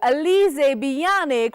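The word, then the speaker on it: Alizée Biannic: is she is the most talented and beautiful alizée beyond ich from france welcome I hope I pronounced your name right yes that's right oh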